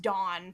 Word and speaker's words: DVWN: I really loved he did a song called Microphone that featured DVWN, so who I assume is pronounced Dawn, but like it's not the other Dawn, it's DVWN. It's really good as well.